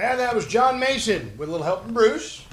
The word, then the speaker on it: Maison: your name is spelled it's not m o n it's I'm get m a i s o n MH so it's Mason that John j o